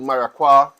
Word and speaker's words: maracuja: which is oud maracuja I've heard I've heard pronunciation such as oud maraqua I don't speak French I don't speak any other language except English Standard English so I am going to pronounce it as I see it fit oud maracuja and this